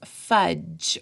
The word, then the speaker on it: fudge: the first one is fudge when you say fudge you don't say this D sound it's not fun it's fudge so I highlighted it